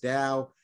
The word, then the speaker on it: DAO: One thing-- you can't be in the NFT space today without coming across something known as DAOs-- spelled DAO, but pronounced "dow"-- which stands for a decentralized autonomous organization.